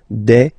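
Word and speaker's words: des: singular form and then you just add this S at the end and as we said you don't pronounce it so you get de okay de fam so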